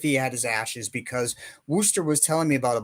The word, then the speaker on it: Worcester: that it's spelled in Massachusetts but he everybody pronounces it Wooster so so that's the way he that's that's